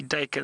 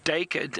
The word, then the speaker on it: duiker: name, and the name duiker, it's spelled D-U-I-K-E-R. Some people pronounce it duiker or duiker, and the duiker gets its name from a Dutch word or an Afrikaans word, and duiker means diver, and it's because of